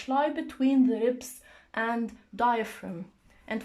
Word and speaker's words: diaphragm: between the ribs and diaphragm and for the word diaphragm the G is silent we don't pronounce it diaphragm when the instruction is